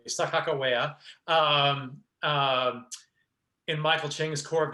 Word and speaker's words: Sacajawea: So interestingly, Blake sang the role of, as we all think in North Dakota that we say it correctly, Sacajawea, in Michael Ching's Corps